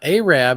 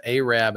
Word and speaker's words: Arab: sister Pat lives in Arab and it's not Arab it's Arab Alabama I don't know why they pronounce it that way but they do it's aab Alabama maybe I should move